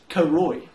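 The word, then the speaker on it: Cooroy: What about Karoy? Karoy, okay. Pause comments. How would you spell that? Should be enough time. Karoy. I would spell Karoy. K-A-R-O-Y? No, that's spelled C-O-O-R-O-Y.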